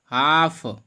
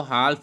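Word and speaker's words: half: इसके बाद अगला है हाफ। हाफ मीन्स होता है आधा। इसको हाल्फ नहीं पढ़ेंगे, एल आपका साइलेंट रहेगा इसमें, क्योंकि एफ से पहले एल आया हुआ है, नियम है।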